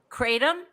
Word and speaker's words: kratom: Kratom.